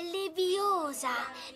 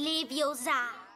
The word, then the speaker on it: Leviosa: per di più sbagli pronuncia è Leviosa non Leviosa in questo contesto si